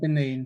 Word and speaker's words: Benin: How do I get pronounce Benin. that? Yeah, Benin.